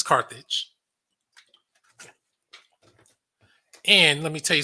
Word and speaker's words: Carthage: He said Cartridge, but it's Carthage.